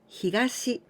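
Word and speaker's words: 東: Toyo and say yo this kanji here we pronounce higashi and it means the East and this one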